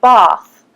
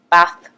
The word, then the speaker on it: bath: So, for example, in the south, where we come from, we would say bath. But in the north, bath.